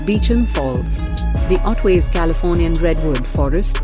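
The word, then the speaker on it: Beauchamp Falls: mobility and fitness also in typical Aussie butchering of language these are actually pronounced Beacham Falls the otways Californian Redwood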